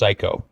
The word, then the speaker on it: Cayko: So, and one icebreaker I want to give you, Mark, is my last name is actually pronounced Cayko, and you can say that with full authority.